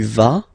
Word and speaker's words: vas: Basically, you pronounce it like for the tu, because you don't pronounce the final S. Okay, il va, elle va. Okay, je vais, tu vas, il va, elle va.